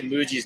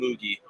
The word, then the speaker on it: Muji: For a while I was calling him Moogie, and I found out it was Muji, like you pronounce the G.